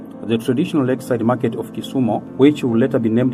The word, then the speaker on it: Kisumu: The Luo called it Kisumu, but then the Wasungu called it Kisumu, and the Luo used to call it Winam. So the actual pronunciation should be Kisumu.